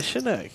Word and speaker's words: Chinook: Did I say it wrong? You actually said it closer to the correct way.